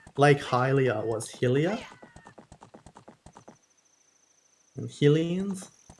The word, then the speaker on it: Hylians: And Hylians. I think it actually is supposed to be pronounced Hylians, but That doesn't really make sense to me though, because it's Hyrule.